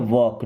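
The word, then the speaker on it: walk: लिखा है ना अभी लिखते हैं वॉक डब्ल्यू ए एल के यहां भी एल साइलेंट है ओके चाक होता है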